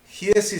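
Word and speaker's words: Giezi: Giesi se escribe con G. Giesi como suena, pero con G, Giesi.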